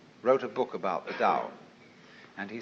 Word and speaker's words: Tao: is called the dao t-a-o pronounced dao in the mandarin dialect tao in the shanghai dialect toe in the cantonese dialect take your choice dao